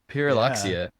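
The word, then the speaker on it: Pyrrhuloxia: and I'm gonna have to ask John to pronounce this again, purillockia. Puriloxia.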